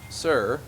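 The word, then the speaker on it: Hser: his teammate uh sir it's actually spelled HS e r but you don't pronounce the the H so it's sir and The Archers appears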